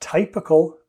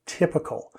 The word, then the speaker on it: typical: on a typewriter but this word the y has a different sound typical it's not typical but typical so typical is another